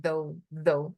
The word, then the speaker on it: though: E ó, a pronúncia aqui não fica though. Even though. Aqui é mais quase um D, né? Parece que começa com um D aqui, ó. Though, even though.